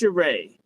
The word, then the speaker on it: Cheree: It's pronounced Cheree.